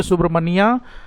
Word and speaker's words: Subramania: Spelling पर ध्यान दीजिए, SHU नहीं है, SUBRAMANIA, सुब्रमण्या भारती, BHARATI।